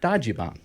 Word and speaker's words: Dajiban: who knows everything about Dody bomb okay that's am I saying it correctly that is you're saying